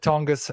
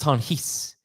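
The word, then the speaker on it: Tonges: I have Tongus a little bit higher. I think it's Tangas. I meant to look that up all week. Tongues. Uh, it's pronounced Tonis.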